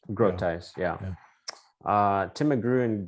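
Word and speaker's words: Grotius: go to doug brutis it's a group ties right that's how you pronounce this uh grotice grow ties yeah uh tim mcgrew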